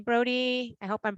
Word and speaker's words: Brody: And it looks like last name Brody. I hope I'm pronouncing that correctly.